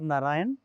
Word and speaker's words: नारायणा: करेंगे ही चार बार नारायण सप्ताह झाले ते बुला होगा नारायण नारायण नारायण नारायण नहीं कहना है नारायणा नारायणा पूरा अक्षर उच्चारण करना घ्र नारायण नारायण नारायण